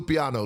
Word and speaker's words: Lupiano: Um this is from Fabio Lapionna La Lapiano, right? How do you say that last name? Fabio Lupiano. Lupiano, right?